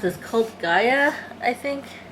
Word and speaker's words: Gaia: Cult Gaia, I think. Gaia, it's pronounced.